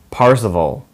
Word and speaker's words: Parzival: I know that saying his name wrong. It's bothering me. Sorry, he's based off of the knight Percival, but his name is Percival. Parzival.